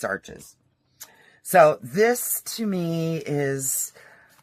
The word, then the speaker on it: Arches: It's actually pronounced Arches. But, I'm freaking American, so it's Arches.